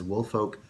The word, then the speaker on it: Woolfolk: This is in the Woolfolk, and now I've been told I can just pronounce it as Woolfolk 4, not far, 4.